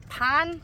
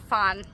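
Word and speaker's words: Phan: pon pH a n this is Pon this is not Fon like if you see it with an F say it with an F but if you see a pH in a tie name or tie word it's just P hopefully that's helpful T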